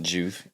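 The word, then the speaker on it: Joovv: I don't even know how you say it, Juve. Juve.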